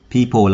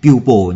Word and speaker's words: people: People là people, các bạn đừng đọc thành pupil nhé. Rất nhiều bạn đọc people thành pupil.